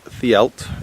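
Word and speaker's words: Dduallt: Right, this is Ddaullt. It's spelt Ddaullt, but we pronounce it Ddaullt in Welsh.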